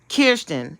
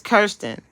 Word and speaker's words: Kirsten: Because I keep calling her Kirsten, and her name is Kirsten.